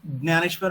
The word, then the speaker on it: ज्ञानेश्वर: हम हिंदी में ज्ञान बोलते हैं, मराठी में ज्ञान बोलते हैं। तो वो ज्ञानेश्वर महाराज, if I speak in Marathi I will say ज्ञानेश्वर Maharaj, if I speak in Hindi I will say ज्ञानेश्वर Maharaj.